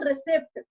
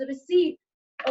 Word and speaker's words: receipt: Receipt will always result into inflow of fund. और मैं इसको receipt पढ़ रही हूँ. P is silent here. Right, it इज नॉट रिसिप्ट, इट इज रिसीट।